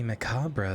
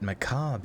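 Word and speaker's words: macabre: it for a second apparently macabra is an accepted us English pronunciation but maab is the correct UK English pronunciation oh no my sweet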